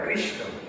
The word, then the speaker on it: কৃষ্ণ: দেও নাই যেন বুঝতে পার প্রথম যে নামটা কৃষ্ণ এই হরে কৃষ্ণ হরে কৃষ্ণ একদম ক্লিয়ার কাটা উচ্চারণ হরে হরে কৃষ্ণকে যদি তোমরা কৃষ্ণ বলো